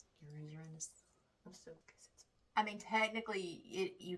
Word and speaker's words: Uranus: Uranus. Uranus. I mean technically it you can pronounce it either way but the technical pronunciation is Uranus and I was I definitely would have said